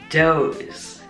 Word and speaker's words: Dhos: Dhos. The H is silent.